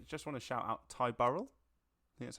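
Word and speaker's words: Ty Burrell: 10 years also just want to shout out Ty Burl that's how you pronounce his name from family loved that I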